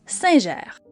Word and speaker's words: Singer: En Europe francophone, on la prononce Singer.